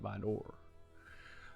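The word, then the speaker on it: Vidor: Drive in VOR Texas I know how to say it it's vder but I like calling it by door um yeah man she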